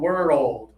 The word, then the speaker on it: world: World. world Yeah, and then you can get a little faster as you practice, but slow it down to two syllables to be more clear.